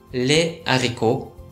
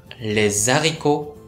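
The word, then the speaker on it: les haricots: よって複数定冠詞をつけた場合はレアリコと分けて発音しな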